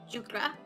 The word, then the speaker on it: Jukra: You have to roll the tongue. It's very important. If you don't roll the tongue, it means something else.